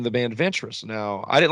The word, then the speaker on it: Ventress: The band's name derives from Ventruss, Louisiana. Now, Ventruss, Louisiana is spelled Ventress.